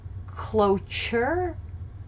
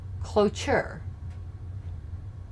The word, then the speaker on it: cloture: and taking a vote and how do you pronounce it cloture cloture it's used in the senate only well i'm